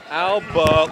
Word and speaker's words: Alba: Al say it again Alba Alba Al yeah Alba long a and like soon it's